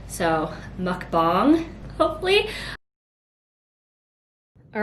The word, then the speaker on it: mukbang: it wrong before and said it was like more of like a bong and not bang so mukbang hopefully all right this